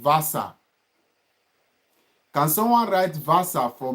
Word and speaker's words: Wasser: So W is being pronounced as V, is not pronounced as W. V is being pronounced as F, not as V.